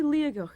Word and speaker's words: Liathach: pronounce it yoga where the t in the middle should be a g well we're here in torridon to climb one of scotland's most picturesque and photogenic mountains liagok yes that's the mountain